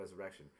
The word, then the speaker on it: Resurreccion: different spell right yeah but it's I just pronounced the resurrection right so quick story uh I ran to